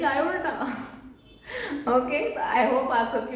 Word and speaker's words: aorta: सो मैं बहुत ध्यान से उनकी बात सुन रही थी और मैंने देखा ओके, ये जो बचपन से मैं ओल्टा ओल्टा कर रही हूँ, दैट इज ब्लडी आयोर्टा।